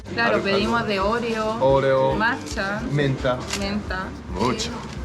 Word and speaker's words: matcha: matcha. Matcha. En japonés dice matcha. Matcha.